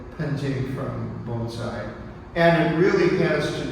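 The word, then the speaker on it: 盆栽: Those same two characters are pronounced bonsai in Japan, or punzai in Korea, and or bunche, I should say.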